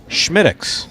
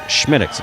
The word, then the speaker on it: Smithwick's: And Schmittix is how it's pronounced. It's written Smithwick's, but the Irish pronounce it Schmittix. It's a red ale. Schmittix.